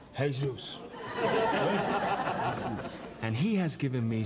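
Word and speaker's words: Jesús: It's spelled Jesus. It's pronounced Jesus.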